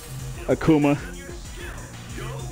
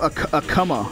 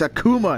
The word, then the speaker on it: Akuma: executed that like right on the first try akuma people always call him a kama or akuma it's like it's a it's a